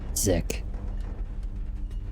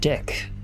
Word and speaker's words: Dick: I think his name is Sergeant Dick. You don't pronounce it Zick. Sergeant Dick.